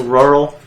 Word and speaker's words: rural: Like Earl, with an R at the beginning of it. It's like rural. Rural. Just say it like you're saying Earl. Try to say with an R in the front of it. Try to say without a W sound. There ain't no W sound.